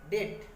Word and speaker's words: debt: वैसे ही डाउट, इससे पहले भी आया डाउट, क्योंकि आप डाउट नहीं पढ़ते, डाउट, B silent. डेट, डेट नहीं पढ़ते, डेट, DEBT, डेट, डेट में होता है कर्ज।